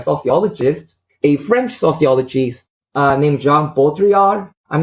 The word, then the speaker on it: Jean Baudrillard: a French sociologist named Jean Baudrillard. I'm not sure if my pronunciation is correct. Jean Baudrillard. Baudrillard, probably. We probably. Baudrillard. Yeah. Usually don't pronounce the D.